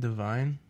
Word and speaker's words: Devine: Devine?